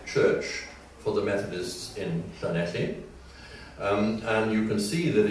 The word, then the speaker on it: Llanelli: lovely town of Llanelli, when of course it was spelled with a Y at the end and not an I. But it was still pronounced Llanelli.